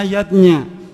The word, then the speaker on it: yajna: Ayahbunda rukunnya yaitu Panca Yadnya Panca artinya lima zatnya itu artinya lima macam selamatan zatnya tulisannya yajna Ayah Bunda tapi membacanya yadnya yang pertama adalah dewa